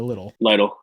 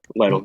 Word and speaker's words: Lytle: Is it Lytle or Little? Lytle, yeah.